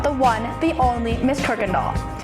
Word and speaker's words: Kuykendall: We are of course talking about the one, the only Miss Kirkland Doll. It's pronounced Kirk Gandal, even though there's no R.